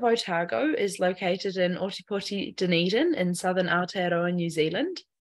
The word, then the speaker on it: Dunedin: the University of otago in Dundon New Zealand did I pronounce that correctly uh it's Dunedin Dunedin thank you um